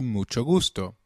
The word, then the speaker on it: mucho gusto: benido orena nice to meet you translates to Mucho Gusto sorry is loo excuse me when begging pardon